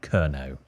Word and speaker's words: Kernow: It's pronounced Kernow, not Kernow.